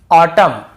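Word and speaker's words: autumn: पे क्या करना है n को नहीं पढ़ना है जैसे ऑटम कॉलम डैम हाइम तो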